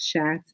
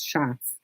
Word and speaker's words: Schatz: It's Leela, and her last name is not Schatz, it's Schatz. So she has that in her bio.